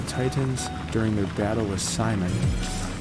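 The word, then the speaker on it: Psimon: Alright, Beast Boy and Raven appeared before the Titans during their battle with Simon. It's spelled P-S-I-M-O-N, as in psychic abilities.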